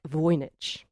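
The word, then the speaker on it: Wojnicz: early in the novel she does actually include a line that tells us how to pronounce the name of our hero felt WJ n i c z she says vich slowly and clearly pronounced his own first name and surname in the hope that the other would remember them mes voich so there we go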